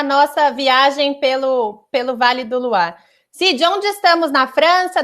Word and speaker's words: Loire: Vocês estão vendo o nome dele, Loire, mas nós pronunciamos Loire em francês, né?